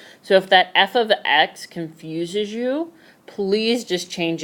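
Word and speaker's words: f(x): And it's pronounced f of x. Of means multiplication, so f multiply x is basically what that parenthesis is showing. So it is pronounced f of x, with the of meaning multiplication, but what I want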